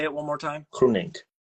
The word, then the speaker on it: Groenink: Groenink. Groenink. So it's almost a C at the beginning.